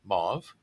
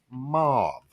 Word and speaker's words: mauve: actually m-o-a-v so it's mauve rhymes with grove but everybody calls it mob i did not know